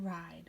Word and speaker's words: ride: The E is silent, and the I will say its name. I ride.